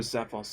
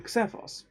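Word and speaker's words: Xephos: they were called there i didn't know but x could be pronounced as a z so i used to call him blue cevos you know with a k because it's an x i thought that made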